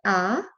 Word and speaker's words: ha: the I would concentrate on the second word ah the pronunciation had to remember the Italian never pronounce